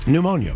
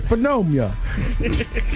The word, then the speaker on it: pneumonia: Pneumonia. Pneumon I was about to say phenomia.